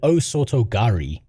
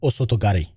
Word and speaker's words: osotogari: If I say the word otoari, which which would be the English pronunciation, that sounds wrong. where in Japanese it would be closer to something like osotogari right would be the word